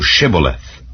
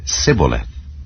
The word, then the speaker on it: Shibboleth: If he said nay, then said they unto him, Say now Shibboleth. And he said Sibboleth, for he could not frame to pronounce it right.